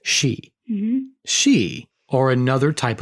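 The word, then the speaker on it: sidhe: she here is spelled s i d h e so it reads like Sid but it's pronounced she mhm she or another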